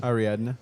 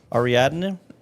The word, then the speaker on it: Ariadne: say named the way Aradin Ara Ariadne Ariadne Ariadne I don't know uh anyways if you